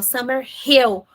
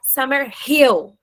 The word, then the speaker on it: Summer Hill: Puxa bastante no H, pode caprichar, ó, Summer Hill.